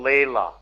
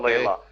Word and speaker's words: Leila: and don't bother Jimbo Leila you know like like Eric Clapton song Leila is Jimbo Jimbo Leila your referees pronouncing it wrong okay so what are